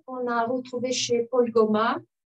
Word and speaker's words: Goma: Et je voudrais réitérer ici la complexité de l'exil qu'on a retrouvé chez Paul Goma. Cette fois, j'ai prononcé à la manière française, mais nous qui savons